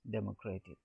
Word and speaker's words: democratic: If you come from the right, racy, here mock on the third it falls, and that word adjective form democratic, it falls on the second one from the right, democratic. Now geography.